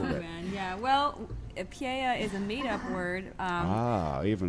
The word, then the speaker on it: Pyeya: The name of the band is Pyeya, which is spelled P-Y-E-Y-A, which is, I guess you don't have a manager, right?